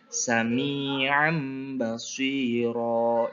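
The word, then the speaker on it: سَمِيعًا بَصِيرًا: ba Ini kalimatnya Contohnya samiam bashiro yaitu apa tanwin patah Tain bertemu huruf ba maka dibaca iqlab memindahkan atau merubah mim disertai dengung Nah biar lebih paham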